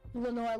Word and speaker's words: Lenore: Lenore Lambert. Yes, Lenore Lambert.